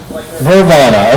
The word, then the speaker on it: Vrvana: Vervana, okay, I've been pronouncing it wrong all along.